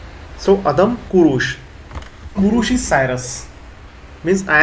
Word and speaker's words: Kurush: Ku. And not the first one. Not the short one. Kurush. And in Roman, ku and u. Just like K-O-O. In pronunciation wise, not spelling wise. Kurush, like that.